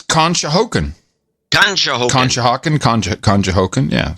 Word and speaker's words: Conshohocken: control kahoka n-- con Shoko scotch I can't pronounce the city it's $200 from him and he's in Pennsylvania con it's Conshohocken Donahoe Conshohocken contract Conshohocken yeah yeah I'm in